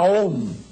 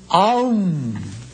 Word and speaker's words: om: la sílaba Sagrada a se escribe om pero no se pronuncia om no sino aum es un sonido muy